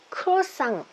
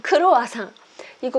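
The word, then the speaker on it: croissant: 크로상트. 그렇죠? 이거 선생님 어떻게 발음하세요? 이거 발음해 볼게요. 예. 크로와상으로 많이 알고 계시죠? 크로와상. 이거 크로와상이 아니라 크로상트라고 발음을 합니다.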